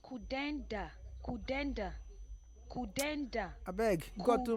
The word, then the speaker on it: Kudanda: It's pronounced Kudanda.